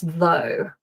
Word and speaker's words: though: And of course though, so in all cases our o u g h is pronounced o.